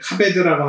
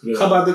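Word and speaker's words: כָּבֵד: 카바드 카베드 네. 카바드라고 하지 않고 카베드라고 하는 건 상태 동사, 형용사들은 이제 카베드라고 발음하는 거예요. 카바드라고 발음해도 됩니다.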